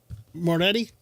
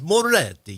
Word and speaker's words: Moretti: Moretti. Moretti. Moretti. How do you roll your Rs? There's only one. There's only one R. There's only one R. You don't.